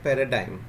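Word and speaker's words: paradigm: ठीक है, इसका उच्चारण क्या हो गया, पैराडाइम हो गया. यहाँ पर इसको वर्ड को एम कर लीजिए, पैराडाइम होता है, यहाँ पे इसको एम कर लीजिए, पैराडाइम. ठीक है, पैराडाइम बोलते हैं किसी चीज़ का आदर्श नमूना.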